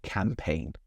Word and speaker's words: campaign: Okay, there's a G in there. I'm ignoring it. I'm saying campaign.